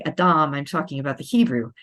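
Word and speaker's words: אדם: first human being the Adam and I'm putting the emphasis on the last syllable because that's how it's pronounced in Hebrew plus it helps to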